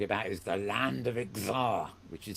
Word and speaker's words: Xzar: is we're talking about is the land of Xar, which is spelled XZAR.